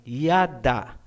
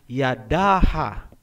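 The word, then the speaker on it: ידה: Hindi po, kasi ang A ay binibigkas kung may susunod pang syllable. Kung wala nang susunod na syllable pagkatapos ng last letter, hindi na po bibigkasin ang tunog na A. Gaya halimbawa ng salitang yada. Ang ibig sabihin niyan ay praise o pagpupuri. Hindi po binabasa na Yadaha.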